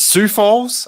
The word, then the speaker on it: Sioux Falls: pronouncing it is it sioux falls i think it's sioux falls i think it's how it's pronounced sioux falls city council meeting um